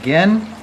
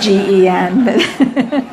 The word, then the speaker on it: Gen: And she said, "It's a hard G." So without further ado, we're going to hear now from Gen from the Kadampa Meditation Center.